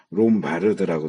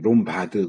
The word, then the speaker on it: 롬바르드: 발음이 여기도 롬바르드라고 이게 이건 맞는 발음이 롬바드 그러면 안 되고 롬바르드 아를 발음을 해 줘야 돼요.